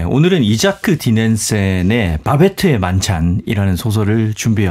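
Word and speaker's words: Isak: 본명은 카렌인데 이자크는 필명입니다. 구약 성서에 보면 이삭이라는 인물이 나오잖아요. 그 이삭을 이제 덴마크에서 발음하기를 이자크 이렇게 발음을 한 거고요.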